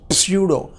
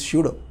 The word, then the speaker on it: pseudo: Is here P is silent. Don't read it as pseudo. It is pseudo.